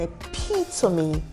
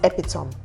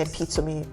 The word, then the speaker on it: epitome: want to describe you I would say oh Chelsea is an epitome of Grace not epitome and epitome of Grace so we have